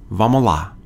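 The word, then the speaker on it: vamos lá: started you can use vamala it's spelled vamos la but many times people leave off or drop the s sound and it just sounds like vamola so this expression is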